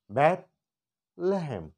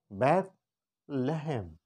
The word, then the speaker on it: بیت لحم: اس کو یہاں سے ہم نے الگ کر لیا ہے، اس کو ایسے پڑھیں، بیت لہم. بیت لہم. بیت جب ہم بولیں گے تو ہماری زبان ہمارے دانتوں کے نیچے آئے گی.